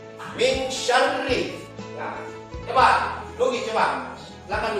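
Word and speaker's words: مِن شَرِّ: Nah, tapi kalau dalam surah Al-Falaq ini huruf sya itu ya dia harus lidahnya kita ini agak lain sedikit. Min syarri.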